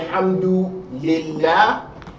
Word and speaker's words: Alhamdulillah: So in general, if the word Allah is preceded by a kasra, you're going to pronounce the lam lightly, not heavily.